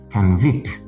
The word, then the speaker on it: convict: And then here we have the verb form convict. Convict. The noun form is convict, actually. Someone can be an ex-convict.